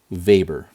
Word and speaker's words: weber: in tesla meter squared or wb which is pronounced weber w e b e r vapor b is still the magnetic field in tesla